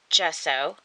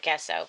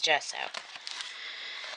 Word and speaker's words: gesso: 10 white pages actually these are gesso that's how you say it i always want to call it guess out but it's gesso so 10 white pages